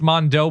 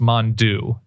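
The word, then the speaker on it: Mondeaux: Which is really, I think it's like, it looks like it's Mondo, but I think it's pronounced Mondeau, like a Deaux situation.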